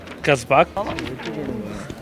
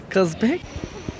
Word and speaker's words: Czapek: Czapek. Czapek. C'est Czapek.